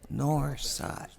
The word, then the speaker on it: North Side: Please say it correctly. North Side. Keep the TH out.